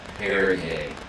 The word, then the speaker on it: Paraguay: How do you say it again? Paraguay. Paraguay. Yeah. p a r a g u a y Is it soccer?